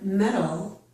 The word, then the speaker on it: medal: Most Americans pronounce metal and metal in the same way.